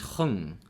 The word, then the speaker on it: Hung: The pronunciation of my name is Hung.